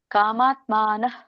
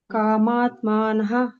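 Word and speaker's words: ಕಾಮಾತ್ಮಾನಃ: ನಿಮ್ದು ಹ ಉಚ್ಚಾರಣೆ ಆಗಲಿಲ್ಲ ಕಾಮಾತ್ಮನ ಸ್ವರ್ಗ ಪರಾಹ ಕಾಮಾತ್ಮನಹ ಸ್ವರ್ಗಪರ ನಹ ಅನ್ನಂಗಿಲ್ಲ ನಹ ಅನ್ನಂಗಿಲ್ಲ ಅಲ್ಲಿ ಯಾವಾಗ ಮಧ್ಯದಲ್ಲಿ ಇರುತ್ತೋ ಎಂಟು ಅಕ್ಷರಗಳ ಮಧ್ಯದಲ್ಲಿ ಇರುವಾಗ ನವಹ ಉಚ್ಚಾರಣೆ ಮಾಡಂಗಿಲ್ಲ ಕಾಮಾತ್ಮನ ಕಾಮಾತ್ಮನಹ ಅಂತ ಹೇಳ್ತೀರ ನೀವು ಕಾಮಾತ್ಮ ಬರಬೇಕು ಸ್ವರ್ಗ ಪರಾಹ ಎಂಡಲ್ಲಿ ಪೂರ್ಣ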